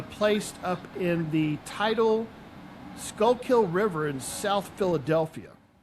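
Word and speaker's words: Schuylkill: up in the tidal Skullkill River in South Philadelphia. Yeah. Skookul, I think they pronounce it.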